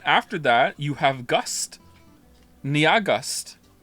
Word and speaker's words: NYAHGUST: Niagust. It's pronounced like August.